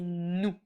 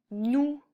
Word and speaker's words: nous: Nous, il y a une lettre muette à la fin, le S, mais qu'on prononce pas. Alors, tu peux l'apprendre en disant nous.